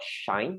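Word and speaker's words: Shein: help but think about this company called shine and who are pronouncing it correctly s-h-e-i-n it's a clothing manufacturer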